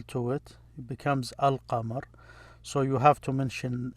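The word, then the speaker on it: القمر: letters or almost half when you attach l to it you pronounce the l another one they're called if you attach l to it it becomes alkamar so you have to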